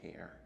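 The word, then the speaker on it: char: an interesting one about how to pronounce C-H-A-R. I was personally disappointed to see that there's such a low percentage who say care. They pronounce it the way that I pronounce it.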